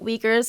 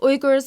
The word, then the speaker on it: Uighur: ways to pronounce it Igor's is just the way that I pronounce it because I'm in the Turkish language or in the Turkic language that's just the way that it's pronounced but weekers is also